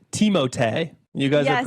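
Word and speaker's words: Timothée: It's an image, but also it's actually pronounced Teimote.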